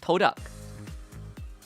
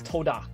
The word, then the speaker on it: TODAK: How do you pronounce TODAK? Exactly how you pronounce this. TODAK. There we go. That's it. There we go. It's not Mystery two solved. ducks, it's TODAK. We got TODAK.